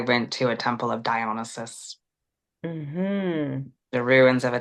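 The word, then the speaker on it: Dionysus: incredible um relationship with dionysis that's the Greek pronunciation and then um the Brits always have to mess things up so the British tradition is is to to call him dionisis um and he was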